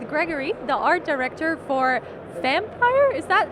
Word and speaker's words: Vampyr: the art director for Vampyr. Is that how you pronounce it? Well, actually, the original pronunciation is quite complicated. It's something between Vampyr and Vampyr, so Vampyr is quite good.